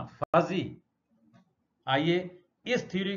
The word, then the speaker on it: fuzzy: नाम ले सकते हैं, FUZZY, फजी, फर्जी मत बोलना, फजी।